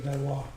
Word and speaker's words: Valois: de Valois, Valois. That'd be Valois.